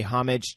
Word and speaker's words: homage: So the cameo by Jimmy Fallon is a homage to the cameo.